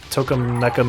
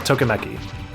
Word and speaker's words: Tokimeki: She appeared, what, Toka Mecha Memorial? Is that how it's pronounced? Wait, Maria's actually in Toka Mecha Memorial? That the dating sim that Igarashi produced? Yeah, Tokimeki.